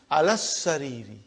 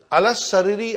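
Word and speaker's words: على السرير: See how I am pronouncing? Alas-sariri. It's a shadda. Alas-sariri, I did not pronounce alif, I did not pronounce lam.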